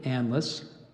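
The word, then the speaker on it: anlace: Chaucer's Canterbury Tales and it gave you the pronunciation of analysts there's also Anne lace endless a-n-l-a-s-s sandless analyst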